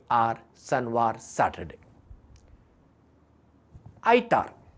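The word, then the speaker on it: Son'var: ताचे उपरांत येता सनवार एस ओ N apostrophe apostrophe V ए R. Apostrophe कित्याक? एपोस्ट्रॉफी जर आमी घाली ना तें जाता संवार, पूण आमी म्हणटा सनवार.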